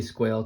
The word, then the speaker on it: Squail: I have to believe it's Squall, but I'm going to say Squail because that's how they spell it.